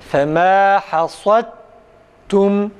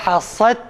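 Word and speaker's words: فما حصدتم: Fema hasadtum Sadda tam a sesi çıksın arkadaşlar. Tekrar. Fema hasadtum. Arkadaşlar hasad değil. Fema hasadtum. Kalın harfin sadece kalın okunması yetmiyor. İsti'la sıfatından dolayı a sesinin çıkarılarak okunması gerekir.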